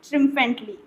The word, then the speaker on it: triumph: देखिए इसकी स्पेलिंग देखिए, TRIUMPH। इसको बोलते हैं ट्रिम्फ।